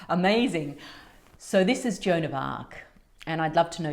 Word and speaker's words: Arc: Lake was Vivian Del AR of the waters acqs and of course jonov AR is spelled Arc but it's the same sound it's the same vibration